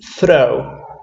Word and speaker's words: throw: We have to throw. Remember the TH pronunciation? Yes, the tongue between the teeth.